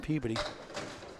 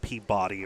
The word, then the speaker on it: Peabody: Please, people, it's not Peabody or whatever else. Peabody. As few syllables and enunciations as possible, please, and thank you.